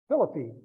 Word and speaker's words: Philippi: of the Civil War Philippine yeah or Philippi as I pronounce it exactly very small